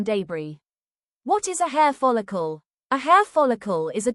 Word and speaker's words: follicle: base of the hair, the follicle, pronounced f ah l ih cool, a sack-like pit in the skin from which the hair grows.